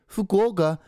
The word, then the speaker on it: Fukuoka: to play the the Japanese person right hey Fukuoka not like you oka it's